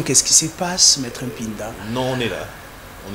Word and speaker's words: Mpinda: C'est Mpinda. Les uns vous disent Pinda ça et là.